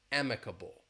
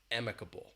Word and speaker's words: amicable: The stress is on the first syllable but that beginning vowel sound is different. So we have emiable or amicable.